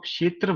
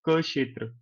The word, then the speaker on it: क्षेत्र: बोला करो छोटा सा तो आप क्षेत्र मत बोला करो आप बोला करो क क्षेत्र क्षेत्र मतलब के साइलेंट थोड़ा सा आपके मुह में उच्चारण होगा उसका सुनाई देने वाले को नहीं सुनेगा पर आपको पता है मैंने क्षेत्र नहीं मैंने क्षेत्र बोला क क्षेत्र तो लिखने में गलती